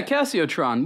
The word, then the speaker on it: Casiotron: What do you think of the Casiotron? Is that the way you pronounce it? Yeah, Casiotron.